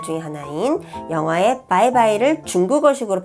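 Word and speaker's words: 拜拜: 가장 흔히 많이 쓰는 말 중에 하나인 영어의 바이바이를 중국어식으로 발음한 건데요.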